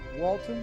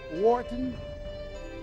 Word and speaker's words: Wharton: He has an MBA from Walton. Am I pronouncing it? Wharton?